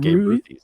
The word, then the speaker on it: Gabe Ruthies: I'm saying Gabe Ruthies. Like, the Ruthies? Yeah. Babe Ruth. Gabe Ruth. Gabe Ruthies. That's unbelievable.